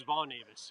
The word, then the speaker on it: Von Avis: From the, How do you say your last name? Avis or Avi? my last name is Von Avis. Yeah. Avis.